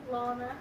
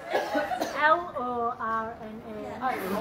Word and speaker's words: Lorna: Lana. Lana? Lana. Lana. You're saying exactly what I'm saying. Lana. Lana. Lana? Lana. Did I not just fucking say that? Spell it. L-O-R-N-A.